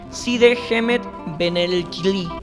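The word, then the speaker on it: Cide Hamete Benengeli: Side Hemet Benelkili, como se pronuncia en árabe.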